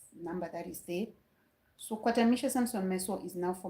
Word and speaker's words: Kwatamisha: It is Kwatamisha Samson Miso.